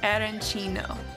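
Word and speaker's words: arancino: so when in Kat make sure you say erino what are we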